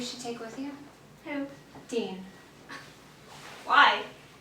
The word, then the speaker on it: Dill: It's actually pronounced Dean.